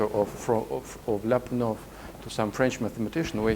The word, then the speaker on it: Lyapunov: And also, I use the opportunity to say that Lyapunov is not Lyapunov, but Lyapunov. So the accent is different, but everybody in the West pronounces like this.